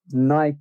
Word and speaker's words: Nike: n i c k n i k e i mean how do you say n i k e Nike right in the UK we call it Nik right yeah like Mike Mike Nike exactly but fun fact